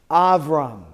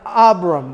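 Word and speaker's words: אַבְרָם: closes the syllable so you would pronounce this I've rung which is what not Abraham it's Abram what we oftentimes say is Abram Abram right but in Hebrew it's I've rung so that's the difference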